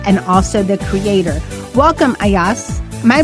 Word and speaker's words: Ayaz: Welcome Ayas. Am I pronouncing that right?